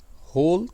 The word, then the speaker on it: whole: होल का मतलब होता है मुकम्मल। इन दोनों का प्रोनाउंसिएशन सेम है, W का सिर्फ फ़र्क है।